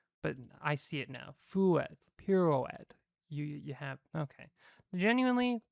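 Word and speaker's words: fouetté: to make fret because I was hearing fret and I was like, okay, but it's gonna be spelled like pirouette, so I was like, I'm just gonna play it safe and do the et because all I hear is fret, but I see it now.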